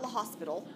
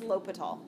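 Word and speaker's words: L'Hôpital: l'hopital's ruler rule l'hopital it is not the hospital that's what people usually look at and say the hospital it's not actually even phonetically where things are at all this is l'hopital okay guys got it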